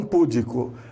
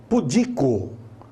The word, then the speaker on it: pudico: normalmente de forma incorreta as pessoas falam público não é político é pudico pudico então você vai se